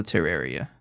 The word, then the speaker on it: Terraria: The best way to think about pronouncing it is that it sounds like terrarium, but instead of um at the end, it's uh so terraria.